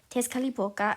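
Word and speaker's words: Tezcatlipoca: name is Tes calapa that's actually how you pronounce it if you want to know Tes khalipa and he is his official form is a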